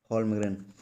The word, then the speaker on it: Holmgren: SIWI के हमारे कार्यकारी निदेशक हैं टॉर्गी, स्पेलिंग नोट कर लेंगे, TORGNY, टॉर्गनी, लास्ट में वाई है, टॉर्गनी होल्मग्रेन, HOLMGREN, होल्मग्रेन।